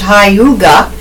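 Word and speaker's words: hygge: from the Danish notion of comfort pronounced Hyuga the down has launched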